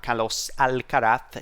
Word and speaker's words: Carlos Alcaraz: him it is carlos i think that's how he should be pronounced in his native language uh kalos al karat he's still only 19